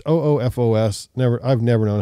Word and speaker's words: OOFOS: actually for camping the the ufos offos sandals best recovery sandal it's oofos never i've never known